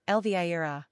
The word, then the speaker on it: Elvira: Pronunciation, el-VIE-rah.